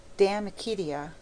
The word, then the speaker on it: De Amicitia: We've finished Livy and De Senectute, and now engaged with De Amicitia, pronounced Damicitia.